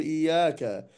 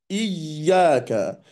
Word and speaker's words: إياك: وعندي حرف الياء بعد ذلك هو حرف مشدد، فالأصل فيه أنه حرفان 2 ياء، فلا أنطقهما كمثل الحرف الواحد وأقول إياك، إياك، هذا خطأ. وإنما الحرف المشدد هو حرف قوي، فأقول إياك، إياك نعبد وإياك نستعين. والمد في كلمة إياك هو مد طبيعي يمد حركتان.